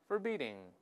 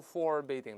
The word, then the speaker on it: forbidding: 师读一遍，forbidding, forbidding. 不要读 forbidding，大家注意第一个发二的声音，轻读啊，在里面 forbidding.Forbidding, 令人望